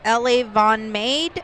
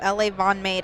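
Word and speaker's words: LaVonMade: It's L.A. Von Made, I think is how it's pronounced. It's L-A-V as in Victor, O-N-M-A-D-E. So L.A. Von Made, I think is how that's pronounced.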